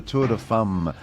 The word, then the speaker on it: Tour de Femmes: I might get Gabriel Gartet back on, perhaps he can give us a correct pronunciation. It's the Tour de Femmes.